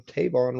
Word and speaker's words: Tavon: Cincy wood podcast and today I have on Tavon am I pronouncing that correctly yes indeed okay I read